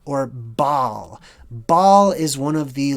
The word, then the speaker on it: Baal: that one's highlighted so we've got Baha or Baal which is sort of how it's pronounced in modern day and then you see